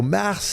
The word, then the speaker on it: Marc: I go Mar because that's how you pronounce it in Franco.